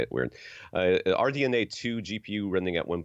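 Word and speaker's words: RDNA: at 3.8 gigahertz AMD our DNA is that that's just how they say it yeah ok I know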